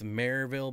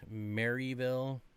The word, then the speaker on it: Maryville: It's Maryville, Bob, not Maryville.